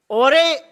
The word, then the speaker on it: Jorge: रहे हैं, इसको टीम ओरे, शायद इसे प्रोनाउंस किया जाता है JORGE, I think in the dialect there it's called ओरे।